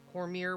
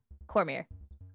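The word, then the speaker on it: Cormyr: Cormier. Cormier is a Y. Oh. Google actually made a helpful suggestion for once. Cormier, the Maybe. home of the It's spelled like Khmer.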